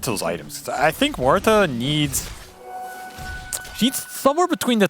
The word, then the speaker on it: Muerta: You know how much I've been coached on how to pronounce his name. Muerta.